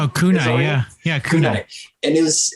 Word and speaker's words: Kunai: Kunai? Oh, Kunai, yeah, Kunai.